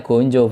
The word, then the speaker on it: gajah: terlarang daunnya terang gondola ya gonjo kalau Ditulisan itunya sih ya gajah di tulisan bahasa Indonesianya tapi kalau di kita orang Jawa ya gonjo bacanya oh nah sahabat saya